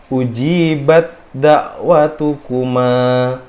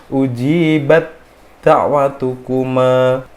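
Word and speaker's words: أُجِيبَتْ دَعْوَتُكُمَا: Nah, kalau belum kenal, maka kita bacanya adalah ujibat da'watukuma. Nah, karena kita sudah kenal, maka hamesnya dari ta itu dia dihilangkan dan langsung dimasukkan ke huruf dal gitu.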